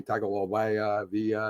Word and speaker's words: Tagovailoa: And I'm not even going to try and pronounce his last name. Tagovailoa.